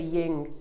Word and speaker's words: yin: type all that good stuff all right so ying yin yang not ying yang yin yang a lot of people pronounce it wrong i just did no worries